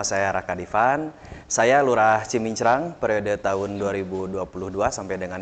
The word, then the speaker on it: Cimincrang: betul Jadi sebetulnya ee nama yang benar itu heeh menurut ee apa pelafalannya adalah Kelurahan cimincrang ya cimincrang Yain Oh baik baik baik cimincrang tetapi orang banyak ee mengatakan cimencrang betul saya pun Sebelum